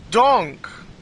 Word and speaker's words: donk: I said donk. It rhymes with bonk, so I like that word a lot.